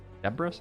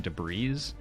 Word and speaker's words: debris: i did that too i absolutely pronounced the s and i think i said debris deborah's i think i said deborah's and then someone's like that's wrong and then i started saying debris and then someone was